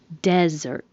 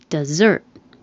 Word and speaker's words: desert: The stress is on the first syllable, desert. Desert. If it's the verb, the stress is on the second syllable, desert, meaning to leave.